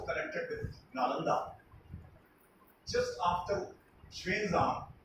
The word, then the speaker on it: Xuanzang: Just after Xuanzang, who is widely known as Xuanzang in India, but his actual pronunciation is Xuanzang.